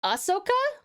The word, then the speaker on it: Ahsoka: Uh, it's pronounced Ahsoka.